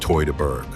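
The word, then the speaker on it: Teutoburg: The battle of the Tudberg forest in 9 CE, pronounced Toyberg.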